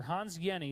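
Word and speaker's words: Hans Jenny: the study by Dr Hans Yenni that's how you pronounce that name even though it looks like Jenny the J is silent it's like a y so Dr Hans Yenni studied a drop of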